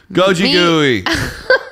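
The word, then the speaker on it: 고기구이: So Korean barbecue, which pronounced is gogigui, which also means meat roasting.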